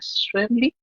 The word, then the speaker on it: Schweblin: He leído algunos libros de Lovecraft y leí uno de Samantha Schweblin, que así se pronuncia.